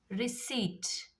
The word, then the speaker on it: receipt: Receipt. Receipt. Receipt, not receipt. P silent in receipt.